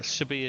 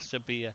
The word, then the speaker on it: Sevilla: Yeah, Sevilla is how they pronounce it there. So that's the pronunciation I'll go with because that's the Andalus way of saying it. Sevilla. They pronounce Sevilla as a V in Andalus.